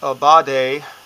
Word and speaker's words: Aubade: And Aubade, which can be pronounced many different ways, I'm pronouncing it more of an English way, translates to a morning song for lovers, or a song at dawn for lovers.